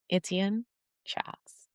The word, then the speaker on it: Etienne Charles: Yeah, please help me to welcome the one and only Etienne Charles. Did I pronounce that well, my friend?